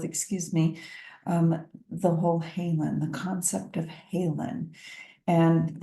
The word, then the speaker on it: haelan: brought out the word Halen to my attention which is um I'll put it on the screen for us it's spelled ha AE l n and it's a beautiful Old English word that um describes healing